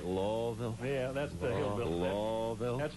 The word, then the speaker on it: Louisville: this improv Louisville it's a terrific are we pronouncing it right lville yeah that's the hill that's when our red